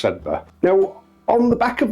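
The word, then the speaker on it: Sedbergh: youth, where he explained to me how you pronounce Sedba. I pronounced it Sedberg, but it's actually pronounced Sedba.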